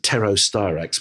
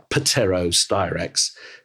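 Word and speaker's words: Pterostyrax: bit of a pain but it's Tero styrax with a silent P so it's patero styrax and the the species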